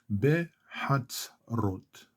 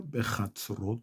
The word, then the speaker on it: בחצרות: Bevet, Bevet, Bevet Adonai, Behatzrot, or Bechatzrot for some, Behatzrot, Eloheinu, Eloheinu, Behatzrot,